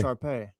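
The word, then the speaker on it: Shar Pei: There's only one Sharpie I know, but I learned something today. Sharpay. I said it wrong. I said Sharpie, like the pen.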